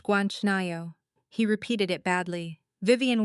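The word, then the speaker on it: 괜찮아요: It's pronounced Guanchanayo.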